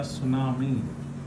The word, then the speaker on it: tsunami: So half of the Banda Islands nutmeg plantations were destroyed by a tsunami. So be careful about the spellings, guys. T is silent here.